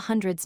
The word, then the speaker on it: hundred: Remember, the stress goes on hun, not dred.